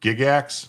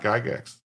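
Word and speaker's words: Gygax: So, we got we got the extra hour and we would go for uh it's it's pronounced Gigax, not Gigax. Okay. Gigax. I'll remember that. Not Giggax.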